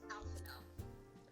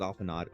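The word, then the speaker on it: Alphinaud: Nearly all of the Elizan names are French. So, Alphino, you're pronouncing that wrong because Alphino. Oh, I thought it was Alphanod.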